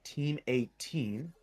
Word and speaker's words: XIIX: For right now, we've got XIIX, pronounced Team 18, and Good Vibes Only taking on each other.